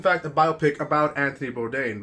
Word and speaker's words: Bourdain: Bourdain, I think it's Bourdain. I've been pronouncing it wrong.